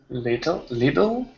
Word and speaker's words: little: Another word where that happens is little. Little? Yeah, so make your T like a D instead.